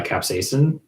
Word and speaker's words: capsaicin: Capsaicin. Yeah, it's capsaicin. As far as I know, that is the correct pronunciation because that is what is on the Worm Audiobook Project website.